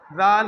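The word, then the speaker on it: ذال: সম্মানিত হাজিরিন সম্মানিত ভিউয়ার্স আমরা খেয়াল করব কোথায় কোথায় আমরা ভুল করি আমরা জাল অনেকে জাল উচ্চারণ করতে জানি না জাল হচ্ছে উভয় দাতের মধ্যখানে জিব্বার আগার উচ্চারণ করতে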